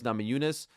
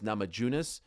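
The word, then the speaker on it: Namajunas: go up against Rose Namayunes. Uh, or as Dana White called her in his IG live, Rose Namajunis. Blows my mind that after all these years, multiple runs as champions as champion, he still mispronounces her name.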